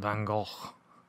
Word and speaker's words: van Gogh: the master of brush strokes I'm in sin van Gogh that's how you say his name and I